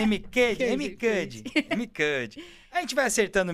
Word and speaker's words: Amy Cuddy: O Pablo Marçal fala, a Amy Cary, que é uma escritora americana, tem no livro dela, Amy Cary, né? Isso. É isso? Tô certo? A pronúncia? É mais ou menos isso. É Amy Cuddy.